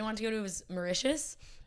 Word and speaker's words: Mauritius: you say that country mauritius mauritius i think it's so delicious it is mauritius that's funny that'd be